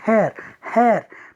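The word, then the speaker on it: heir: पे है एन हेयर, तो इसको हम पढ़ेंगे हेयर, तो एच जो है यहाँ पे साइलेंट रहेगा।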